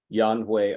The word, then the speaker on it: Yan Hui: Both are actually correct. No, Yan Hui or Yan Yuan. Both were correct.